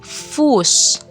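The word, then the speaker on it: Fuß: Tapi kalau dalam kata dia akan dibaca s panjang. Contoh fus.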